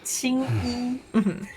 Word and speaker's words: Qing Yi: So her name is supposed to be Green Clothes, which is not pronounced that way. But if you pronounce it with an American inflection, it becomes the word semen. No. Funny. It's supposed to be Green Clothes because she's named after an opera character. It's Qing Yi.